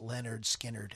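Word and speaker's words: Lynyrd Skynyrd: recorded to the final cut of on the pronounced Leonard Skinnerd album in 1973.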